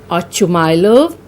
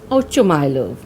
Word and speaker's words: Ochumylov: Now this is a Russian name and the pronunciation can vary. Some call this Ochumylov or Oshumylov. I'll be pronouncing it as Ochumylov.